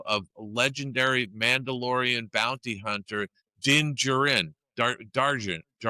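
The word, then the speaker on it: Djarin: enlist the help of legendary Mandalorian bounty hunter Dingjaren dar how do I pronounce that din dingjarn djarn and his young apprentice grou.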